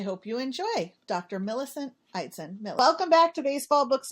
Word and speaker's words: Eidson: So it's a Norwegian in origin, but yeah, different people pronounce it a different way, but I do it Eidson.